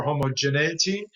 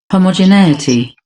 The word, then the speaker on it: homogeneity: There's a UK version, which sounds like this. Homogeneity, homogeneity, homogeneity. And then there's the US version.